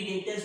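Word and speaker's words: debtors: गया, डेटर्स sundry डेप्टर्स, B silent है, बी बोलेगा नहीं, सन्ड्री डेटर्स बोलेगा, सन्ड्री डेटर्स ये है अपना एसेट, बाजू में लिख दे ए।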